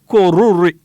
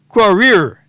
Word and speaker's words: Korir: And in lane 9, Emmanuel Kipkuri Koruri. Yeah, I pronounced that one wrong, boy. Kipkuri Korir.